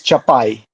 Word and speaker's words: Chapeye: Chapeye, Chapeye, what? How do you pronounce it? In Ukrainian, it's Chapay.